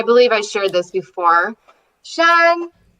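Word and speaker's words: 山: Shan. Shan.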